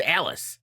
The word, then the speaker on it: Alys: Alice, her name is Alice, but it's spelled Yeah, I know.